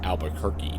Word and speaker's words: Albuquerque: turn at Albuquerque Albuquerque it's actually pronounced Albuquerque but I can't say it that way every time I